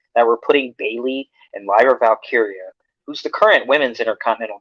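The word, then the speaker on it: Lyra Valkyria: Lyra Valkyia.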